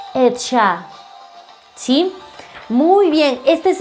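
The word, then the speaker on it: עצה: El espíritu de consejo en hebreo se escribe de esta manera y se pronuncia Etshah. Etshah, ¿sí?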